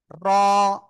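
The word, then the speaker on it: ر: তো এই যে র অক্ষরটা, জিহ্বার আগার পিঠ উপরে তালুর সাথে এরকম একবার খেয়ে র অক্ষরটা উচ্চারণ হবে। ঠিক আছে, জিহ্বার আগা তারপর উপরে তালুর সাথে লাগিয়ে মোটা আওয়াজে উচ্চারণ করব।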